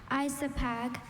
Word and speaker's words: isopag: Isopag.